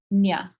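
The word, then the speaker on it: Ajna: So like Agya chakra, like this one, when you get to third eye, Agya, right? This is Agya chakra. Or Nya. You'll sometimes see Nya.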